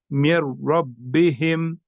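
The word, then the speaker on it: من ربهم: मैं हिज्जे करके आपको दिखाता हूँ, मीम, नून, रा जेर, मिर। ठीक, रा, बा जबर, रब, मिर रब, बा जेर बे, मिर रब, हा मीम जेर हिम, मिर रब्बिहिम।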